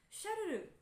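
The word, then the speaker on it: シャルル: ensuite nous avons la façon de prononcer Carla en japonais tu ne sais pas pourquoi parce que Carla en japonais passe à Charles qui se prononce chalel donc chalel c'est marrant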